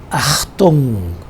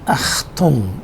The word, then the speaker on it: Achtung: This one is pronounced as Achtung.